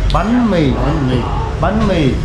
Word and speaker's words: bánh mì: Alright, so I want the correct pronunciation. Okay. Phở. Yes. Mì. Yes. Bánh mì.